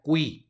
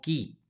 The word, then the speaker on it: qui: tenemos la primera palabra es una Q que se está seguida de una u por lo tanto va a sonar la u se pronuncia cui no qui cui siguiente palabra con subrayado